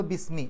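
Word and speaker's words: بسم: എന്നുണ്ടെങ്കിൽ അവിടുന്ന് ഉച്ചരിച്ചു പോകും ഇസ്മ് എന്ന് ഒറ്റയ്ക്ക് പറയും അതേസമയത്ത് അതിന്റെ മുമ്പിൽ ബി എന്ന് വരുമ്പോൾ ബിസ്മി ആ ഇ എന്നുള്ള ഉച്ചാരണം നഷ്ടപ്പെടും എന്നാൽ ബിസ്മില്ലാഹി എന്ന് എഴുതുമ്പോൾ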